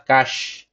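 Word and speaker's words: cache: adalah local Cage ya Ini bacanya adalah cash ya lokal cash kita cari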